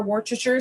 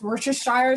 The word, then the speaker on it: Worcestershire: be adding our broth our um in our worchester sauce worcestershire sauce i always say it the wrong way